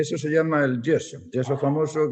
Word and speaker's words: yeso: eso se llama el yeso yeso famoso que en estados unidos llaman yeso porque ellos no tienen la y entonces no tiene más remedio que pronunciarlo con la g pero es el yeso